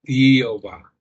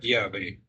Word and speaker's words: Yahvé: Jehová. Porque no podían pronunciar Yahvé. Pero es un gran error.